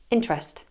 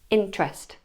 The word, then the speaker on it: interest: If a syllable is unstressed and contains the schwa sound, then it's often lost, deleted, gotten rid of, thrown away. For example, in the word interest, we'd hear interest, interest. Try it.